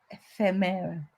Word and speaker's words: ephemera: So Paula says accent is on the fem. Ephemera.